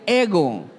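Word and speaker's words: ἐγώ: La palabra yo en griego se pronuncia ego.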